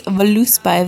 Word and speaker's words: Voluspa: my hair stuff there this Voluspa that's how you say it diffuser which has lasted